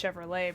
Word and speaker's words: Chevrolet: Chevrolet like the car it the car is pronounced Chevrolet bro the tea is silent I have been